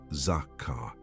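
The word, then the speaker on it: זכר: It is the word zakar, pronounced zakar.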